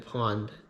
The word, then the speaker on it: Pwned: So on your own, you can go to a website called Have I Been Pawned, spelled, or Have I Been, and then the last word is spelled PWNED.